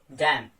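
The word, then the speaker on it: damn: तो आपने यहां पे क्या किया, एन आपने प्रोनाउंस नहीं किया। ऑटम या फिर डैम।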